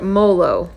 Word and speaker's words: Moolo: So, if you find at the bins, try to remember Moolo rhymes with bolo.